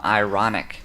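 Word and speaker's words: Ironick: have a song from ironic and that is spelled i-r-o-n-i-c-k so that's ironic with the k at the end and he is uh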